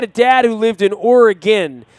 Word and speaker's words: Oregon: dad who lived in Oregon, not Oregon. I called it Oregon. She would always tell me, it's not Oregon. That's what tourists call it. It's Oregon. Oregon. Get it right.